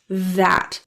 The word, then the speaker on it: that: of the sheer speed the last T in that is pronounced sounds the a glottal te so sounds more like that stopping air sound in the throat the same thing happens